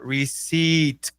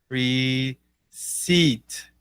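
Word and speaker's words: receipt: mas olha que interessante escreve IPT Mas se a gente fala receit não tem esse esse T né receit como como se fosse assim né recibo para o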